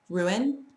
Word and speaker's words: ruin: And we have ruin, that's 2 syllables, and crayon, also 2 syllables.